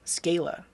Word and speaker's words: Scala: to say about it I don't know Scala I could see that because it's a long a like vowel consonant vowel yeah uh I mean